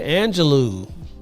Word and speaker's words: Angelou: Cage Bird Sings and last name rhymes with xanado do would be Maya Angelou wow he pulled that